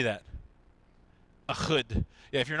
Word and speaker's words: Ehud: Ehud.